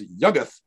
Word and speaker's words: Yuggoth: identified with Pluto as Yuggoth. And we think that is how it's pronounced because it appears in verse and you're forced by the meter to pronounce it as Yuggoth, not Yuggoth or whatever.